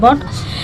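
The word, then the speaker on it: bought: दे मतलब वे, बॉट मतलब खरीदे, देखिए बॉट में भी आप देखेंगे टी के पहले जी एच है तो इसमें भी ये साइलेंट है तो इसको पढ़ते हैं बॉट।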